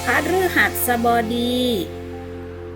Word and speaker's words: พฤหัสบดี: เดือน ใน ลำดับ ที่ 11 ของ ปี พฤหัสบดี พฤหัสบดี หรือ อ่าน อีก อย่าง หนึ่ง ว่า ถือ หัสบดี